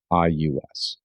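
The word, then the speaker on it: Regius: a document called the Regious Manuscript. And if to the extent that I might have butchered that, it is regus.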